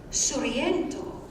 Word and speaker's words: Sorrento: Oh, by the way, Sorrento is the Neapolitan pronunciation sung in the song.